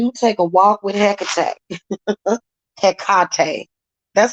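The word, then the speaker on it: Hecate: a when you take a walk with HEC heate that's how they really pronounce her name heate okay it's actually how it's pronounced but some people pronounce it heck so so witchcraft is very much legal that's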